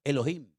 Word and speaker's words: Elohim: Y el primer nombre que conocemos de Dios, si empezamos a leer la Biblia desde el principio, es un nombre que se pronuncia Elohim.